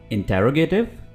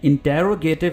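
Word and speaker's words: interrogative: इंटेरोगेटिव यानी सवालिया? जी नहीं, ये इंटेरोगेटिव नहीं है। इंटेरोगेशन तो होता है लेकिन इंटेरोगेटिव नहीं है। ये लफ्ज़ है इंट्रोगेटिव।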